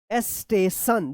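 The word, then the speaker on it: station: यहां पे वे डब्ल्यू ए वाई way railway स्टेशन देखिए यहां पे एस टी ए टी आई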